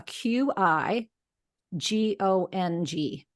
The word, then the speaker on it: qigong: if you want to look it up a q i g o n g and so and it's pronounced Qigong it's energy Mastery and anyone can